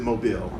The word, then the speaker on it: Mobile: spelled mo bi l II and we all pronounce it mobile some of you have heard of it yeah